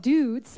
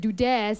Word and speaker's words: Dude'z: Our final contestant for Boys Have You Got It is a group called Dudes. I pronounced it wrongly before I said Dudes, and they said, no, Arnie, it's Dudes.